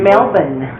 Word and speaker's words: Melbourne: Melbourne is how you say it, Melbourne.